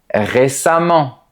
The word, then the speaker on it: récemment: Attention, pour les adverbes, la terminaison E-M-M-E-N-T rime avec le mot diamant. Voilà d'autres exemples. Évidemment, récemment, différemment, violemment, etc.